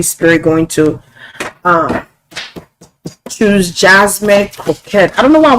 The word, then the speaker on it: Crockett: Crockett, how do you say her name? Crockett? Crockett. Like croquette.